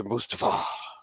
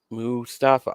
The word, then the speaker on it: Mustafa: how you say it you say mustafa mustafa it's not like mustard it's mu i mean god poor